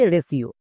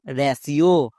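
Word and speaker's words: ratio: একই রকম ভাবে রেশিও চলো এবার উচ্চারণ করি আর এ এর জন্য রা টি আই ও এর জন্য সিও মানে রেশিও এবার এখানে দেখো টি আছে টি এর জন্য কিন্তু ট হয়নি এখানে দন্তস হয়েছে কেন এর ক্ষেত্রে নিয়ম হচ্ছে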